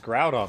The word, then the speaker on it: Groudon: No, it's Groudon, like ground.